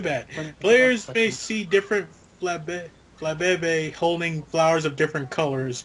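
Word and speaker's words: Flabébé: Flabebe? What? That's how, no, That's that's how it's pronounced. Flabebe.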